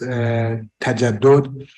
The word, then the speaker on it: تجدد: The term modernity, which is in Farsi pronounced tajaddud, is claimed to be established or founded by Jean-Jacques Rousseau on the 18th century.